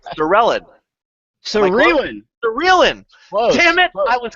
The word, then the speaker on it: Serellan: So it's actually pronounced Serellan, but yeah, it happens all the time. All right. Well, so now from now on, it is Serellan.